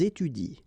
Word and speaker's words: étudient: exactly the same rule because you don't pronounce this and then even if it's at the plural form, so and t, well, you don't pronounce it, so you will get ils étudient. All right, ils étudient. You don't pronounce that.